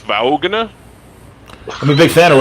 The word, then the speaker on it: Vaughn: out by that robert vaughn was a piece of work he was a he was kind of a stuck up on a guy i believe it's pronounced vaughan i'm a big fan